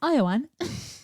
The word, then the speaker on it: Ioan: think the Marvel movies isn't his name spelled like that and it's Iowan yeah IO and grufford